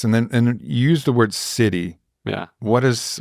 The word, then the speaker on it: Siddhi: What is Siddhi to you? What is that? Yeah. Where did that word come from? And yeah, you have to be careful in America because it sounds a bit like city.